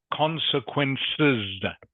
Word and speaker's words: consequences: Consequences. It's plural, so you need to pronounce the S on the end.